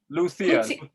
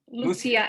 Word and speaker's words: Lucia: How do you pronounce Lucia? It's Lucia. Lucia in Slovak, but for me in English to say it's Lucia, it's much easier anyway.